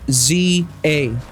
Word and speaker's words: Z-A: Now, if you are from anywhere other than America and you say zed, the game is pronounced ZA.